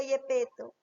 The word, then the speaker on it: Gepeto: gepeto acá quién se escribe gepeta pero se pronuncia yepeto Con quién está platicando yepeto está platicando con